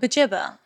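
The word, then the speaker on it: Buġibba: Bujibba. I mean, I'm sure there'll be some people in the comments saying that I I'm say saying it Bujibba. wrong. I say bajibba.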